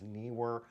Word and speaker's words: Neewer: the surface nearer newer I've heard it pronounced all different ways but it's NE w r so I believe it's Neer uh I have I